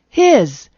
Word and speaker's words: his: give me some examples his and is are examples of my z sound at the end of a word please and misery are